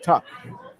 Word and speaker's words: Tuch: What about Alex Tuck? Isn't it spelled Tuch? Yeah, but it's pronounced Tuck.